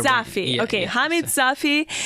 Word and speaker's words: Safi: Is it Safi or Safi? I feel like I'm Safi. Pronouncing it wrong. Safi. You are Safi.